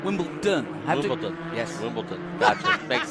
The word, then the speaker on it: Wimbledon: in Wimbledon white in Wimbleton white no not Wimbleton Wimbledon wion yes Wimbleton got makes sense that's all